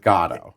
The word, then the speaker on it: Godot: This has been, you know, the the the pronunciation of that word, but we're going with God.